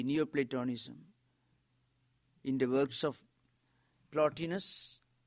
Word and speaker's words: Plotinus: in the works of plot eNOS as we can be pronounced here plotinus and fellow Augustine gave